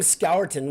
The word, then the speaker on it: Scourton: His name wasn't even Scourton to us until this year, so we did a pretty good job. Calling him Scourton, which is the correct grammatical pronunciation, is okay. It took us a while. Scourton, that's a little bit of a tester.